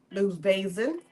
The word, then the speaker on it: Lu Vason: Lou Vason.